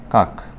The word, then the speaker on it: কাক: কি হবে কাকার উচ্চারণ কাকের উচ্চারণ কি কা ক টা শেষে থামিয়ে গেছে যেখানে তোমরা বাতাস বাইর হইতে পারবে না বাতাস থেমে যাবে সেখানে আমরা একটা হসন্ত ব্যবহার করব সেটা হবে কাক কাক তো এই হলো